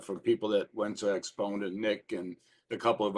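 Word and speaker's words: AXPONA: up oh okay yeah I'll look at that spell it for me again a x p o n expona yes okay I know I heard of that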